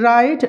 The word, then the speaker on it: write: Whenever we find a word starting with WR, W is always a silent letter. WRITE, right.